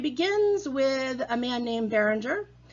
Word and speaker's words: Bérenger: with a man named bérenger or Barrow J if you would pronounce it in French and he has a